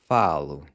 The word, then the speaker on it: falo: I speak is falo. More specifically, eu falo. Eu meaning I. So all you're doing is replacing the AR verb ending with an O, which is pronounced like a U.